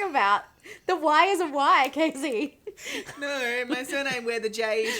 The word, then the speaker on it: Kacy: time I thought you didn't realize spelling my name wrong this whole time yeah my name is ka CJ you know Casey yeah yeah obviously so yeah I just like